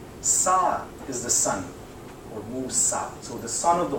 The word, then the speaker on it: Musa: We don't pronounce him Moses. We pronounce him Musa.